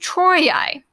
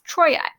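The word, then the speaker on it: Troiae: something called a diphthong a diphthong are two vowels squished together to make one sound so this is actually pronounced troi now and notice how i didn't say tro e-r-a it's troye so because of that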